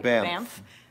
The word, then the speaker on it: Banff: Banff. Which is spelled B-A-N-F-F, but somehow is pronounced B-A-M-F.